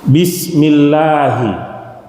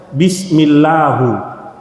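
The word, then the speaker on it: بسم الله: Bismillahi. Ada orang baca bismillahu dikoreksi gak?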